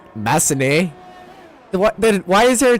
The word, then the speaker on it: Massenet: Don't pronounce the T. Why is there a T there? Then it's like Massenet. 224444. It's Massenet.